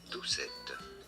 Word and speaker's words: Doucette: how to say more this is a French name originally in France it is said as duet duet duet I was